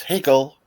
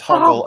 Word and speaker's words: Hoggle: way it's delivered because they keep getting Hoggle's name wrong. It's when they're down in the tunnels and Bowie goes, "Higgle." And he says, "Hogle."